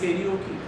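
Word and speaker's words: karaoke: द way they like they call कराओके because they आर reading कराओके बट इट इज केकी they call it generic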